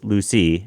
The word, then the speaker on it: Lucia: And my dog, Lucy, her name is spelled like Lucia, but it's Lucy after the island.